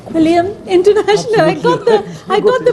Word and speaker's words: Quilliam: Quilliam International. I got the pronunciation finally.